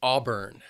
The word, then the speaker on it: auburn: The next color is Auburn. Two syllables and the stress is on that first syllable.